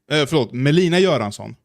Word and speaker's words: Melina Göransson: Melina Göransson, which is how you pronounce her name, is married to Destiny, Stephen Bonnell II.